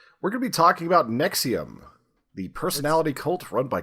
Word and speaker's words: NXIVM: with the cool name yes nexium and I you told me how it's spelled beforehand it spelled with a V you guys missed history